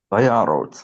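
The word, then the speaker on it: וַיָּרָץ: this is a closed syllable, unstressed. That's a kamatz katan. Vayyarots. Vayarots.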